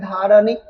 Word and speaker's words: धारणी: जो धारणी लिखा है धारणी तो नी को खींचा जा रहा है यहां पे नी को नी के पास है ना दीर्घ उच्चारण है यहां पर और यह